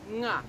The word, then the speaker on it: nga: When you add the A, it's pronounced nga. Nga.